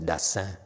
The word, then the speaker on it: Dassin: French pronounces Dassin.